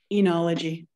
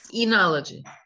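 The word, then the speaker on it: oenology: making is C oneology enology the O is silent yes enology yeah number six the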